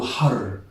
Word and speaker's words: حر: Make sure to pronounce the ha or the ha right, and also the re or the ra right, because the pronunciation of these two letters can be difficult.